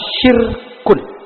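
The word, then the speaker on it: شرك: Kita mengenal istilah syirkun. Bukan sirkus, syirkun. Syirkun pakai sin besar, syirkun.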